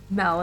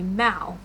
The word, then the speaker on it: Mal: So I named Evie and her sister Mel after the movie Descendants, even though it's actually Mel is supposed to be Mal, but I kept pronouncing it as Mel.